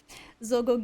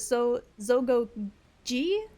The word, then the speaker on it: Zogo: my kitty that's okay Zogo I hope I'm saying that right or is it so Zogo G I'm not sure which but I hope your kitty kitty was having fun being pet you said it right the first time okay zogi got it